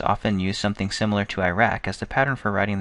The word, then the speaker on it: IRAC: organized with a common legal writing tool called Iraq that's spelled i a c Iraq is an acronym